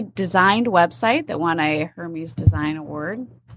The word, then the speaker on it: Hermes: Our newly designed website that won a Hermes Design Award. It's pronounced Hermes.